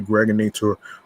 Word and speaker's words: Greg Nator: This is your man and homie, aka the Greg Nator, rhymes with now or later like the candy.